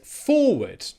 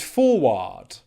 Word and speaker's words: forward: to move forward together what most people would say is forward forward forward when people see the AR combination they think it's AR and in many cases it is but in other cases it's not and forward is a prime example of where it's not it's the schwa sound and it's important to